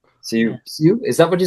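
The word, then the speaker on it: Sioux: Su is that what you say? Sue. Sue. Like Suzie in the banshees. Yeah. Sue. That sounds pronounced.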